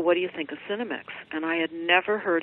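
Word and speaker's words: Senomyx: some interest in how people can locate the Cinemix that we have on the website. Cinemix is spelled S-E-N-O-M-Y-X.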